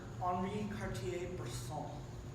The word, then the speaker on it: Henri Cartier-Bresson: The term "the decisive moment" was coined by a famous photographer, Henri Cartier-Bresson. He's French; you have to pronounce it like that.